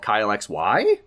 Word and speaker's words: Kyle XY: will be doing called Kyle XY. It's with a question mark. Oh. And it's spelled like WHY. Get it? Kyle XY? And that's how you have to say it.